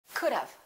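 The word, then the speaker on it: could've: it sounds like this think about dove which is a bird the bird dove and say dove could have could have let's practice that i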